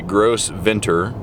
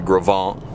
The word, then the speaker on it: Gros Ventre: are leaving jackson wyoming and headed into the gravon which is spelled g-r-o-s space v-e-n-t-r-e you'd almost want to say gross venter but it's pronounced the gravan and this is the gravant river uh you maybe just see right there